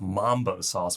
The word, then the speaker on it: Mumbo Sauce: In fact, the trademark for Mumbo Sauce, not to be confused with Mambo Sauce, which is sometimes how it's pronounced, is actually owned by a Chicago-based company.